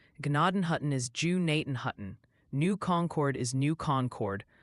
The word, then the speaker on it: Gnadenhutten: And Ryan, the Ohio Pronunciation Academy called, Gnadenhutten is Jew-Naten-Hutton, New Concord is New Concord, Muskingum is Muskingum.